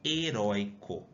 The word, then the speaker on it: heróico: Como que eu falo? Heróico ou heróico? Heróico. Essa é a separação de sílaba. Qual que é a sílaba mais forte? A sílaba mais forte é o rói.